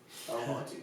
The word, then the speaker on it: Almonte: Yes, I'm in Almonte today. Yeah, I think so. Almonte. It's that's the original pronunciation.